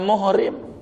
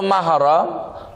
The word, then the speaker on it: mahram: Penyebab salahnya gara-gara tidak ada barisan bahasa Arab, mim ha ra mim. Jadi dibacanya muhrim, dibacanya mahram, bisa aja dibaca muharram, bisa. Begitu.